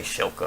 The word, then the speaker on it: Shilka: First objective is to destroy an enemy ZSU Shilka or Skilka, however it's pronounced. I say Shilka because I see it SH.